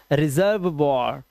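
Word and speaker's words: reservoir: रेपर्ट वॉर और last का ई silent. रेपर्ट वॉर। This is रिजर्व वॉर।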